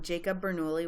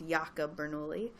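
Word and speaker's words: Jacob Bernoulli: the mid 1600s um Jacob beri which it actually would have been pronounced yakob beri um discovered its connection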